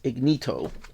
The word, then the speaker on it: Ignito: This is written by Takashi Nagasaki, and the artist is Ignito. And I believe that's how you pronounce it. It's like Ignite, but with an O.